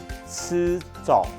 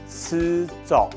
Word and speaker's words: 試著: 不一样的发音哦，吃走，吃走。好，这是试穿衣服的试穿，吃走。